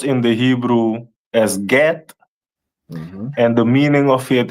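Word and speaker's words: גד: Which is pronounced in the Hebrew as Get, and the meaning of it is troop.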